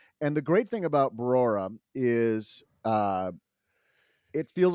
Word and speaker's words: Brora: It's just You said it right the first time, Brora, not Barora, but Brora.